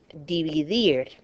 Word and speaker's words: dividir: Because it ends in a consonant other than N or S, so stress, natural stress goes on the last syllable. Libertad, dividir, and you'll see that dividir is a verb, okay?